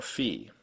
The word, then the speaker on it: Fee: And that German long vowels come before 1 or fewer consonants, as in Dieb or Fee, or before H's, like in Ale or Windmühle.